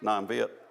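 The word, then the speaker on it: Nam Việt: country you'll hear about it's not Vietnam it's non-vit in this case and it's just a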